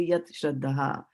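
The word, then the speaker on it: yat śraddhā: I can't pronounce chadra, then you can always pronounce them as two separate words, yat and shraddha.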